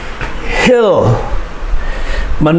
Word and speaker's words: hill: heel ma e sound remember the i makes the short sound why does the i make the short sound because there's a consonant in front of it and there's a consonant after it so it makes the short sound hill and you must make the l sound oh hill mountain mountain